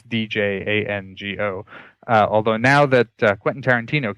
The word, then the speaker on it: Django: by the way, it's Django. Although now that Quentin Tarantino came out with his movie, everybody knows how to spell it. Before that, people would be like, what, Django? The D is silent.